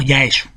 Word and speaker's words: Yaesu: dedicada a este Marinero Los japoneses pronuncian Jan joosten como yaesu y por eso la